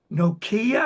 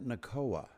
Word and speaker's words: Nakoa: There's also a fellow named Nokia, I think, that you appear with a lot. Or do I have the name wrong? Um, who am I thinking of? Well, I've got Matt Nakoa.